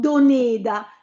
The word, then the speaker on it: Doneda: Doneda Gereral Bugada o il Doneda dovuto avere l'accento sulla e. Una e chiusa, no? Doneda, ma siccome era un nome proprio, un cognome proprio, non l'abbiamo accentato.